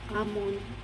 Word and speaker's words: almond: Sa YouTube yung bang yung pagbigkas ng mga salita minsan silent L daw amon siyempre nasanayan na almon na lang. Silent L pala.